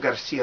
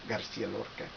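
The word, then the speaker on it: García: have to say federo garciaa I'm probably not saying it correctly Garcia Garcia like the way people say it in Spain Federico Garcia LCA anyway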